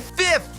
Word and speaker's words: fifth: O som correto é fifth!